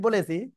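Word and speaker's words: ب: এহসান কিন্তু বলতেছে না দুই ঠোঁটের ভিজা অংশ থেকে বা হরফটি উচ্চারিত হয় ওকে যাই হোক আসলে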